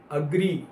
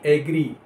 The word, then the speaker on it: agree: AGREE, अग्री, ना कि एग्री।